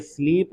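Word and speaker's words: slip: अब अगला देखिए क्या है, I dash well last night, यहाँ ये स्लीप है, अच्छा उच्चारण पढ़ेंगे, इसको करेंगे स्लिप और इसको स्लीप, स्लिप स्लीप स्लिप स्लीप, है ना।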